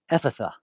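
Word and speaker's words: Ephphatha: during that time so from what I'm told it's pronounced Epatha Epatha uh this word Epatha it's an an uh Aramaic word Aramaic was the language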